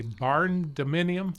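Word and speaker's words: barndominium: Did you say a barn dominium? Correct. Boy, did I pronounce that You correctly?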